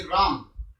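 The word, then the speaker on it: wrong: see the following words w r o n g rom while writing we write w but when we pronounce w is not pronounced k n e e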